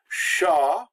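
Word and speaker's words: chat: the e is silent sha the T is silent the CH makes the SH sound always in French but when you add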